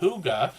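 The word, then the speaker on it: hygge: Huga Homestead lets us know on their about page that Huga, which is how we pronounce this H-Y-G-G-E here, means cozy, peaceful home in Danish.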